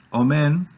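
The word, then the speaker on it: אוֹמֵן: palabras distintas por ejemplo omén omen quiere decir tutor educador nodriza sí tutor educador nodriza todas las palabras hebreas cuando no tienen tilde o no están acentuadas se acentúan en la última sílaba entonces omén omén quiere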